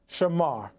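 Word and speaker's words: שמר: page 118, number 8104, the word keep in Hebrew is spelled from right to left Sheen Mamm, pronounced Shamar.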